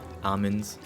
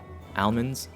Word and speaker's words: almonds: Almonds, I'm told that I pronounce it weird, that it's like almonds. Hey, there's an al in there. I will pronounce the whole al. Almonds.